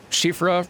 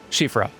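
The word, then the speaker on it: Siofra: had the uh the shifa river well elevator thing nearby i'm told that's pronounced like shifra apologies if there's any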